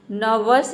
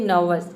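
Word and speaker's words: nervous: हरम यानी कि जड़ीबूटी नर्वस या फिर नर्वस ये भी बोल सकते हैं नर्वस यानी आधा र का साउंड दे सकते हैं नर्वस या फिर नर्वस आर को साइलेंट रख सकते हैं इसका मतलब होता है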